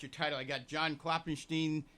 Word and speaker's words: Klopfenstein: We have John Klopfenstein. Am I pronouncing that correct all the time? Yeah, that's correct. Is that good? Yeah. That F is silent. Is that what you say? Yeah, it's silent. Correct. You ever thought of getting